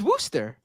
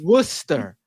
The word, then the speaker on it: Wooster: me I'm wrong are they really no it's Wooster I hope you're wrong cuz that is a